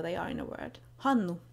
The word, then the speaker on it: Hannu: Hanu has a long n sound in the middle, so it might help you to picture it as two separate words.